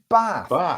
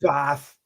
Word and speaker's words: Bath: That doesn't say Bath, that says Bath. If it was Bath, it would have an R in it. It's spelled Bath, but it's pronounced Bath.